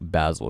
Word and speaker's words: Basil: I'm trying to get better at saying Basil, because I think that's how it's actually supposed to be pronounced. And I have a habit of saying Basil, but eventually I'll get there.